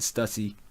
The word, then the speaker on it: Stussy: We found out more about Stussy or Stussy. I pronounce it Stussy.